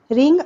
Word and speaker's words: wring: रिंग out wait clothes. ध्यान देंगे यहाँ पर रिंग में WRING है स्पेलिंग। W यहाँ पर साइलेंट है।